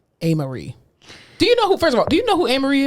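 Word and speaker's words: Amerie: A-Marie, let me just tell you about A-Marie, okay?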